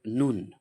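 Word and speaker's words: ن: Next letter এটা হচ্ছে নুন।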